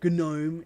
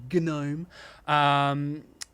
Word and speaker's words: GNOME: bottom left, and then you got GNOME, or GNOME is how it's actually pronounced. GNOME.